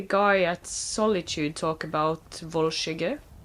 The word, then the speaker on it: Volskygge: We've heard the guy at Solitude talk about Volskygge. I know he pronounced it Volskag, but it is based on Nordic, so...